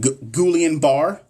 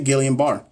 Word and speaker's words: Guillain-Barré: Is it Guillain-Barré? Guillain-Barré? I say Guillain-Barré.